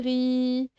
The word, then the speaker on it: riz: Bravo, c'est le riz. Et là, j'ai marqué le Z qui ne se prononce pas.